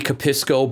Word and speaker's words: Capisco: This is the Capisco by Hag. Now, my white Michigan ass wants to pronounce it Hag, but I think it's Hug?